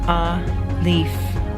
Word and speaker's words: Aleph: Aleph, pronounced a-leaf, transcribed as a or a, the number 1, meaning ox, the fiery intelligence.